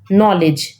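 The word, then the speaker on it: knowledge: ना जैसे हम पढ़ते हैं नॉलेज है ना नॉलेज तो नॉलेज को हम लिखते कैसे हैं ऐसे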